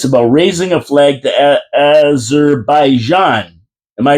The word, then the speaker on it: Azerbaijan: it and it's about raising a flag to Azerbaijan. Am I right Dave Wheeler? That's how you pronounce it. Azerbaijan.